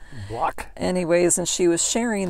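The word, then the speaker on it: Blaak: I don't know, it's spelled B-L-A-A-K in Holland. Block.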